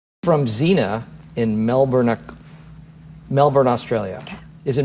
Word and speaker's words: Melbourne: from Zena in Melbourne Melbourne Australia okay is it Melbourne Melbourne Melbourne Melbourne I don't really pronounce it Bor I think it's melbour melbour yeah I'm not even